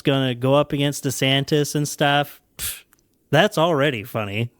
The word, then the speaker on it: DeSantis: He has been adamantly referring to himself as Ron DeSantis. He pronounces it DeSantis.